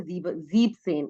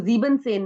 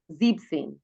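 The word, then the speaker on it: siebzehn: एंड 17 में से भी ई एन हट जाता है तो वो बन जाता है जीब सेन। इसको जीबन सेन नहीं बोलना, जीब सेन।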